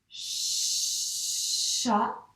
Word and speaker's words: chat: Voici l'histoire d'un chat. Attention, il y a un T muet ici.